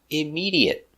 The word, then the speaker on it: immediate: 4 syllables. Stress on the second syllable.